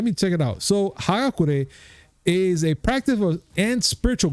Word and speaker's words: Hagakure: It has, it says John Wick 4, Chapter 4, Hagakure in Japanese text.